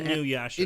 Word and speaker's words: Inuyasha: I think I'm pronouncing it right for the Inuyasha.